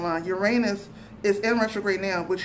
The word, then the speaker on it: Uranus: So since we're doing that, let's switch to Uranus, which is, well, it's pronounced Uranus, but I like to say Uranus because I get to say anus.